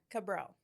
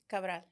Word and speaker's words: Cabral: Say it the pretty way. One more time. Cabral. No. Say it with your accent. Cabral. Yes. Pretty.